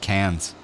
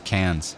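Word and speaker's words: Cairns: now yeah it's pronounced cans basically its cans it's like CA NS cans and then people of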